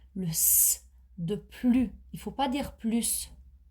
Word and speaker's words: plus: et un sens positif lorsqu'il s'agit d'un sens négatif on ne prononce pas le S on prononce plus par exemple Alex a